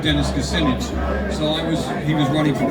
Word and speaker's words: Kucinich: Dennis Kucinich rhymes with spinach.